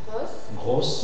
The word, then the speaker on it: gros: Et dans certains mots qui se terminent comme ça, la prononciation sera fermée. Tu lis les exemples. Albatros Albatros Alvatros gross gross gross axium axium axium Amazon Amazon Amazon Agatros